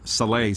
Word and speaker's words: Saleh: I always get to say it wrong, but I think I got it right now. Robert Saleh said, greatest NFL preseason ever.